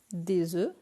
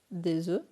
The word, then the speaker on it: œufs: Au singulier, c'est F, mais au pluriel, la prononciation change. Donc, il y a des œufs, un œuf, des œufs.